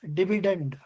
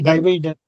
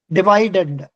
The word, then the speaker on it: dividend: Swati, normally we pronounce that as dividend. Okay sir, you you told that what did you say? Dividend. Huh? Divided.